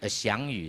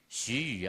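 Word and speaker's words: 徐宇: 下一位是翔宇是吗？徐宇啊，是我又忘了这个读音。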